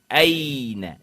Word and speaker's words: أين: عموماً اردو انداز میں اینا، بینا، فوق، سوف اس طرح پڑھتے ہیں. غلط ہے، تلفظ غلط ہے، اور عربی کے لیے جو ہے وہ تلفظ بالکل درست نہیں ہے. این، بین، فوق، سوف اس طرح پڑھنا ہے.